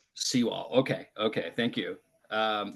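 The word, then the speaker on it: Sewal: Uh, just like it looks. Seaw wall. S E W A L. Seaw wall.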